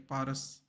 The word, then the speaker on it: Paras: I like how you spelled it in Hindi even, so I pronounce it correctly. Paras.